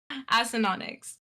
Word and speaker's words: Acinonyx: The biggest thing that I get asked is how to pronounce AD. I will say that is the biggest thing that I get asked. However, Acinonyx.